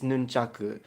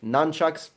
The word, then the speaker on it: nunchaku: You want to say it in Japanese, it's nunchaku, but if you want to say it in English, nunchucks, whatever, doesn't matter.